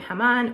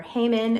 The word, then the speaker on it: Haman: this very Wicked man named hamon or hon however you pronounce it English Hebrew whatever and he comes in